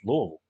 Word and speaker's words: Louisville: i'm from i'm from louisville yeah and everybody everybody calls it louisville and louisville and it's you can tell the people who live here because it's louisville that's what it is my town's the same